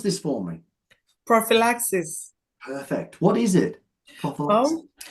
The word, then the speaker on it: prophylaxis: Can you pronounce this for me? Prophylaxis.